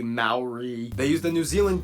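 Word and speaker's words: Māori: Yes, by the way, it's pronounced Maori, not Mayori, Maori.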